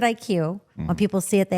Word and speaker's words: ikuw: So Kevin, explain what, because people, we pronounce it IQ.